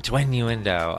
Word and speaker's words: Twinnuendo: point so this has been this has been twin uendo I'm the gay one I'm not is that